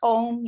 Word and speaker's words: Aum: consultancy which is called aum so it's om you know over eastern philosophy um comes from our eastern philosophy it's spelt aum so my consultancy is